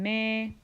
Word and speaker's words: Me: ends with an E the new solfege syllables end with the letter e which makes the sound a so T became teh LA became lait soul became say me became May and Ray which is